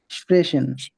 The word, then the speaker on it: sprechen: Sprechen. ইয়েস, স্প্রেশন। কারণ কি? আ ও উ বাদে যা আছে সবই হচ্ছে তালবস্য।